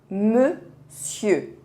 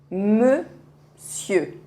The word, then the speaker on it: monsieur: as letras O, N, mas não se pronuncia com as letras O, N, se pronuncia como se fosse E. Vamos dizer monsieur, monsieur.